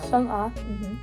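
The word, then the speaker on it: Sung A: Sung-ah. Did you say Sung-ah or Sung-ah? Sung-ah. So more Sung-ah? Yeah, it is like more separately because A is like independent A, so like Sung-ah.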